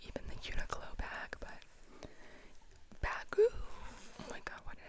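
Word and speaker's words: Baggu: This is one of those, like, it's not actually even the Uniqlo bag, but Bagoo. Oh my god, why did I say it like that? Bagoo.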